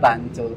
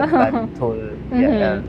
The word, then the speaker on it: Bantul: L, the L, the Bantul. Yeah. So maybe like this kind of pronunciation like still like hard to get, but I can hear, like I can listen, like people say Bantu, but for me I can hear, but it's hard to speak.